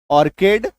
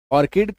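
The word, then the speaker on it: orchid: एकको ओ आर सी एच आई डी ऑर्किड ऑर्किड क टी एच O coarse M ई सी एच A mechanic orchestra है ना ये सारे क्या हैं?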